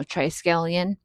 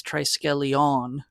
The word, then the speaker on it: Triskelion: yall know you know triccalian. So I think we're mispronouncing that. I think it's tiscalon. I think there's the emphasis on the on at the end but who cares?